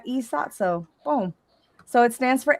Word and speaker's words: E.Sotso: So I said, I wonder if I can pronounce that. So is Sotso a name or a word, or what does it mean? It's an acronym. It's an acronym. So so I was like, oh, okay, I can pronounce that E.Sotso.